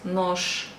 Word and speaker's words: нож: Нож, нож, you pronounce нож.